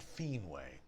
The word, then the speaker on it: Finwë: So, unless I eventually find that mysterious passage, I'm going to start pronouncing the W umlaut E as way, as in manwe and fienwe.